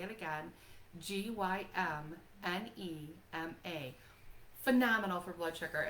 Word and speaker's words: Gymnema: I'm going to spell it for you so you can look it up. Gymnema. I'll say it again. Gymnema.